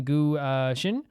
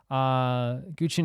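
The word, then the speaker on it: guqin: Last hour, we took a close look at the Elder 2 zither-like instruments, the Gu-Shin. Guchin, not Gushin.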